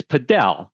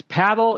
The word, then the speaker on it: Padel: So, it's paddle in every other part of the world except except the US. So it's spelled the same but the but in the US we're we're um saying padell to make it a little bit different because we have we